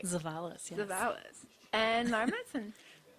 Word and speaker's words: Zavalis: Stream HR2 with Zavalis. Yay. Said it right. Zavalis, yes.